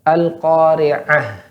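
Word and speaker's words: القارعة: Ya, kurang menekankan pada kalimat ain, pada huruf ain. Karena huruf ain di sini memiliki sifat tawassut, yaitu pertengahan, ya. Maka dialirkan sedikit suaranya. Kalau tidak dialirkan, maka seolah seperti huruf hamzah.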